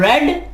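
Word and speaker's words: read: रीड की third form है रेड। Spelling same है, प्रोनाउंस रेड किया जाता है इसे।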